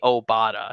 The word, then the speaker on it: Obada: the oh badass yeah they technically did it wrong and it's actually obada so okay bruce golan